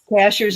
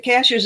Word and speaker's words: Cashiers: Cashiers is spelled just like a cashier at the grocery store. And I still say cashiers. I And I know it's not. And I still But cash cashers is the way the natives say it.